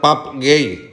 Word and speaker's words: Pape Gueye: I me diu: no, Presi, que Pape Gueye realment en francès se pronuncia Pap Gay.